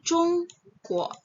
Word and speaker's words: Zhongguo: Nah, berarti G plus UO bacanya jadi kuo. Jadi, chung, kuo.